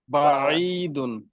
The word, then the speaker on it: بعيد: এবার দূরে, بعيد بعيد বাঈদুন আইন কিন্তু শক্ত হরফ না, আইন কিন্তু পাতলা হরফ, হালকা মাঝখানে চেপে আনবেন, বাঈদুন।